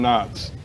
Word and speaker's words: Knotts: Don Knotts. Nicholas Cage. Oh. No. No, Knotts starts with a K. Knotts starts with a K. The K is silent like in Knife.